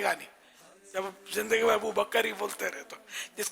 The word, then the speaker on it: ابو بکر: ابو بکر نہیں ہے، ابو بکر کاف ساکن ہے.